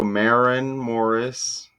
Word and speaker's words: Maren Morris: So, how do you pronounce this name? Marin Morris. Okay. So, Marin Morris, I was right.